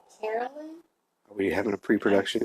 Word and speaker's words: Carolyn: Carolyn? Are we having a pre-production issue here? Yes, we are. I was not anticipating. Carolyn is her name? I believe so. Let me see. Carolyn rhymes with Marilyn.